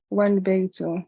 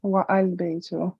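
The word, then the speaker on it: والبيت: The is dropped and the phrase is pronounced wal baytu, not wa al baytu.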